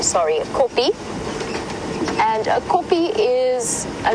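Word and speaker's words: kopje: copies a copy is a little Hill and it's spelled k o p j e copy is j i e is j i e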